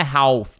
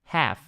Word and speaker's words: half: Cuidado com a palavra half, tá? Que significa metade. Muita gente fala half, tá? Não é half, tá? Não pronuncia esse L aqui, é half, como se não tivesse o L, tá?